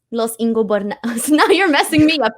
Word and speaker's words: Los Ingobernables: Laurie just used to say Los Ingos de Bananas outwardly say I don't know how to say this. So it's Los Ingobernables.